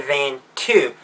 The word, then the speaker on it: Vanto: Though the Chiss turned into their style is Eli Van To, or should I say Eli Van 2, because that's probably more how we would pronounce it given the way it's written.